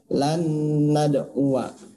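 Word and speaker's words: لن ندعوا: Nah, ini ada lanad wa, tulisannya wa-nya panjang. Ya, tapi ini dibacanya pendek. Lanad wa.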